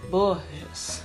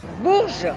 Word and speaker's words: Bourges: lá na França, para ela me ensinar a pronunciar algumas palavras, tipo Bourges. Bourges.